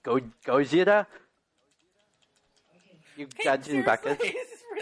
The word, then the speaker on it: Gojira: It's not Godzilla! Gojira! Gojira! That's lame. It's Gojira. I know it's correctly pronounced Gojira.